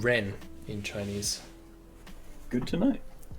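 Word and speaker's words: 人: pronounced- Yes, this is true. It's called Ren in Chinese.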